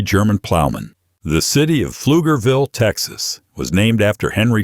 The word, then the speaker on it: Pflugerville: The city of Pflugerville, Texas, was named after Henry Pfluger, who settled the area in 1849. Pfluger means plowman in German. Pflugerville. Yes, that P is silent, and yes, Texans will